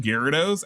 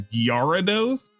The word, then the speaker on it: Gyarados: DSP mispronouncing Gyarados as Guarados for the last decade.